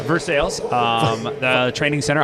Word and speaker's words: Versailles: They call it Versailles here. Just like uh that place uh little uh not not too far from here. I don't want to say it right or wrong because it's what is it? Louisville. Louisville. Louisville. I say Louisville, but it's a Louisville. Yeah. But yeah, Vers Sales.